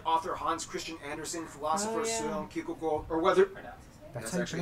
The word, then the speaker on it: Søren Kierkegaard: notable figures like author Hans Christian Andersen, philosopher Søren Kierkegaard, or whether... That's actually how you pronounce his name.